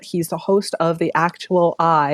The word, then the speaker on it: Actual I: the host of the Actual I. Is that how you pronounce it? Actual I? Yes, Mm-hmm. actual I. You got it.